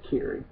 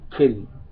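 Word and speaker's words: Kyrie: storyline trying to protect carrie well kitty as it's pronounced um and the game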